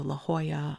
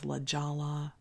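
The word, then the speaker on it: La Jolla: were pronounced in Spanish so la Hoya I thought was LaLa I thought l Siena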